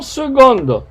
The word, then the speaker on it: seconde: ou en seconde attention seconde avec un c mais on prononce avec un geste secondes on y passe